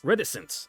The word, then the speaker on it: reticence: to hear what uh how it's pronounced reticence reticence okay there we go I put the emphasis in the wrong Lobel reticence at least on